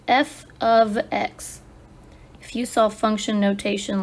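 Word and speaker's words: f(x): Function notation is pronounced f of x.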